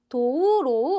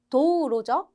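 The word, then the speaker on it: 道路: 자, 로는 짧게 발음하셔야 돼요. 우리 도로도 도우로우 아니고 도우로죠.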